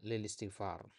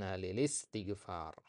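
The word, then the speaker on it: للاستغفار: juga pada kalimat Inna lilistigfar Inna lilistigfar ya Kebanyakan orang membacanya Inna Lil istigfar ada i-nya dan itu boleh-boleh saja sebenarnya cuman kalau lebih fasihnya kita membaca in ltigfar in liltigfar ya begitu juga kata di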